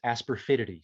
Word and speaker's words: asafoetida: illness, they would take an herb called asafoetida. Now, he and his mother referred to it as asperfidity, so you're going to find a wide different pronunciations of it.